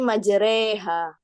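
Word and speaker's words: مجراها: Contoh bacaan imalah yaitu pada lafadz majroha itu di surat Hud ayat 14 kalau nggak salah. Itu membacanya jadi majreha.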